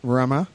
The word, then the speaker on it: Ramaz: Local pronunciation of Ramaz.